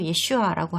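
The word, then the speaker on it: ישוע: 예수 추종자들은 히브리 발음으로 예슈아라고 하는 예수님이 정말로 존재했었다는 사실은 받아들입니다.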